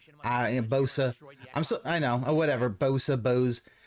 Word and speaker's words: Bose: It's pronounced Bose. Bosa.